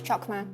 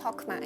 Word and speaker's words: Chokmah: Chokmah is pronounced with a silent C, so it's not pronounced as Chokmah. It's pronounced as Chokmah.